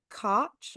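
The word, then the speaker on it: Koch: So, there was the save the theaters movement, which um, involved Ed Cotch, how do you say his name? That's it. Ed Cotch, the mayor of New York.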